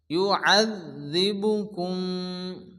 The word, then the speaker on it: يعذبكم: الله وأحباؤه قل فلم يعذبكم জালের উপরে তাসদীদ, জাল দুবার উচ্চারণ হবে, আইন জাল জবর আয, ইউআযযিবুকুম বিযুনুবিকুম।